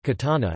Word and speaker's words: Catana: Around 263 BC, the city was variously known as Catina and Catana, Greek, Catane, ancient Greek, Catan epsilon, Latin, Catana, pronounced Catana, and Catina.